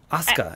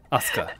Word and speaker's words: Asuka: Asuka, yeah. Yeah, yeah. Like, even when it's in the middle of the name, you don't pronounce it. Asuka, right.